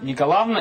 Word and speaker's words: Николаевна: вас зовут николаевна меня зовут николаева никакого анна николавна именно правильно нужно произносить да это норма литературного произношения и на ночь с